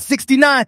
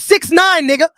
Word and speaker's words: 6ix9ine: hello everyone today on the show we have rapper 69 here you little Satan my name's not 69. it's six nine all